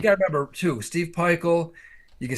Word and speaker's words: Pikiell: He has the weirdest spelling of his last name for the way it's pronounced. Yeah. Right? Isn't his last name spelled like Pikiell or some shit, and it's Peichel?